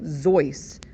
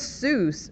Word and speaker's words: Seuss: supposed to be pronounced seuss that's how we pronounce it as readers that's how we've always pronounced it but it's actually pronounced more like zoice because soos rhymed with mother goose and he was doing